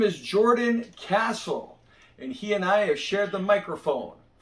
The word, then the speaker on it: Castle: No, it's officially Castle, as you can see. I believe since the last time we worked with each other, I've officially changed the spelling, and so the name is pronounced as it's always been. But you now have no excuse to, get on here and call me Cassell because the spelling is very clear.